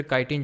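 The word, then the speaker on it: chitin: ठीक है, फंगस में अगर बात करें तो एक चिटिन या फिर काइटिन, जो भी आप प्रोनाउंस करो, तो ये कॉम्प्लेक्स शुगर होती है, उसकी बनी होती है।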